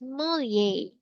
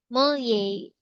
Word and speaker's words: Mollier: The correct pronunciation is Mollier. Mollier. Sounds like French. Mollier. Mollier diagram.